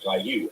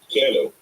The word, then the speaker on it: Caillou: Three, they oft mispronounce words like caillou as kaou or kaou. This is because the name Kaou is French and the text to speech voices speak English.